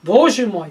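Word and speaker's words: Боже мой: because but partly because the accent of the Russian language is on the first syllable bozhe Moy my god not my God my god and so it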